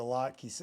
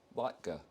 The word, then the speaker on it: latke: Oh yeah, you got eviscerated for the latke. So what'd you call it originally? I think I said latke. No. So, anyways, to right the wrong, I now know the pronunciation. Latka.